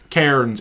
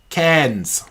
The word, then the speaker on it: Cairns: Oh, they said instead of Cairns, it's cans. Cans. Right, you have to say it like there.